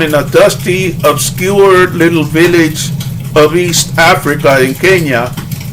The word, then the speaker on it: villa: It's actually Villa. Double L in Spanish is pronounced Ja.